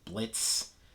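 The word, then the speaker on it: Blitzø: the main imp uh blitz although technically his name is blitzio but uh the o is silent as he likes to remind us uh there's moxie who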